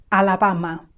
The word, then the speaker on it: Alabama: out loud after me here we say the same sound a four times Alabama Alabama Alabama Alaska Alaska